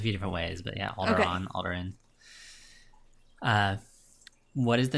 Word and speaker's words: Alderaan: Alderaan. Alderaan. Yep. Alderaan. Alderaan. Okay. And they pronounce it a few different ways, but yeah, Alderaan, Okay.